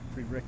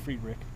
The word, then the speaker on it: Friedrich: off the free backand free Rick backand I'm sorry my apologies to Gabe that I keep pronouncing his uh last name slightly incorrect I believe it is uh freed Rick so now we're here